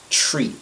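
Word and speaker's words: three: The number 3 contains that TH sound, that soft TH sound, that is usually difficult for a number of language speakers to pronounce. Notably, French speakers have some difficulty with that TH sound. So the decision was made to drop that and just go with the tree sound.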